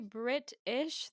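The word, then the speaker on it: Brit(ish): in the UK and I say britsh I say the title that way because um describe how it's spelled for those in the podcast because uh the way that she has the title spelled is it literally is Brit all by itself and then um ish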